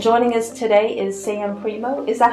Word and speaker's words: Primeaux: So I'm Sam Primo.